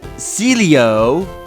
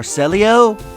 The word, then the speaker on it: Celio: My friend and Celio or Selio, I think that's how you say it, Selio.